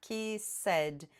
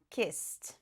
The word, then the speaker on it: kissed: eu coloco o ed, eu não vou falar kiss said. Esse ed vai vir com som de t. Por quê? Porque antes do edu tinha um som desjuzeado. Então o passado de kiss se pronuncia kissed.